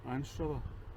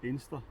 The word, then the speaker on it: Anstruther: And then after that, you might think the next village is called Anstra, but the locals, it's spelled Anstra, but the locals pronounce it Inster.